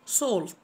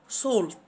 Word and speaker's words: salt: ملح salt salt s a l t. حرف ال a بينطق o، سولت سولت اس اي ال